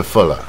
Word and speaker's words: fuller: 就 fuller 啊，它是 fuller 啊， fur 啊，音比较短再带耳的音啊。